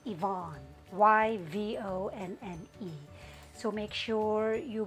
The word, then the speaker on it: Yvonne: Ang tatandaan nyo sa first rule na to, kapag ang proper names nagsisimula sa letter Y, hindi natin siya pwedeng i-pronounce as yeah. It has to be sounded as long E.